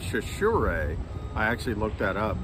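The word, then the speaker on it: Chachere: uh sure that's true yes it's a weird pronunciation it's shashir it looks but it's chashure i actually looked that up because i didn't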